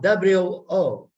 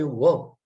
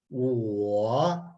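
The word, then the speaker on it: 我: of the sounds that wo is not doesn't rhyme with woman you cannot say whoa you have to say because there's a hidden you comes automatically with a u built in so wo you have to say so the mouth is first you take care of your dwell on the you then you blend it with all so it's war instead of woe this second character j-i-e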